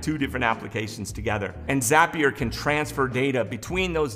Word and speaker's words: Zapier: Pronounced not happier, but Zapier.